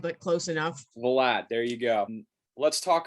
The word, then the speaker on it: Valade: Valade, but close enough. Valade, there you go.